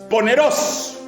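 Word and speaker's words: πονηρός: Maligno en el griego koiné se pronuncia poneros, el que causa dolor.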